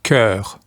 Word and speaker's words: cœur: Corps becomes cœur. C-O-E-U-R. Not too much of a pronunciation change, although we do have an additional vowel, the letter E, and also the letter U.